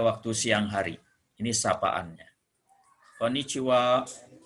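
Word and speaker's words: こんにちは: ini sapaannya Konichiwa Konichiwa jadi disini Double n yang pertama dengan huruf N lalu t absensi ini huruf C dibacanya C lalu wa Ini kata bantu kita ingat kata bantu ini merupakan ini ini khaya ini huruf h a Ya udah kalau sebagai kata bantu ini dibacanya uap jadi untuk kondisi jiwa on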